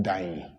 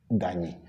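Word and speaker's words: Dayi: But then they pronounce it Dani. The N comes in.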